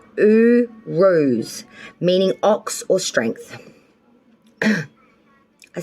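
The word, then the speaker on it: Uruz: of may you pulled the ruin pronounced ooh rose meaning ox or strength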